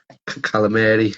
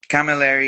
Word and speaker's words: Camilleri: see, we've got the FCC European Champion, Calamari. Is that how it's pronounced? Camilleri, yeah, very close. But it's good though. Well, Still, no worries. how is it actually pronounced? Is it Camilleri or? Camilleri, yes.